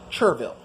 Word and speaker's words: Chervil: Its common name is Chervil. Now, some people get on me for pronouncing the H, but whatever.